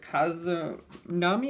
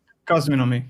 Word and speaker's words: Cosminomy: So as we said, we're here to talk about, was it Kazunami? Is that how I pronounce it? Cosminomy. Yeah, Yes, it's a mix of cosmic and economy.